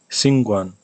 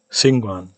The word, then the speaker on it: 𐍃𐌹𐌲𐌲𐍅𐌰𐌽: Now I'll do it as in English. Singwan. Now with retracted. Singwan. And am I doing this I correctly?